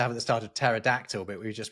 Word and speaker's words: pterodactyl: That P is not intrinsically silent. It's just, you know, in English, we don't pronounce them when we see them like that, right? When we have a word that begins with PT like that, we just don't pronounce it because the rules of English phono tactics make it, we feel weird to say.